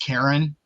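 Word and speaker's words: Charon: I did a bunch of research on him, and I was like, I would love to play as Karan, and it's actually pronounced Karen, but I wasn't gonna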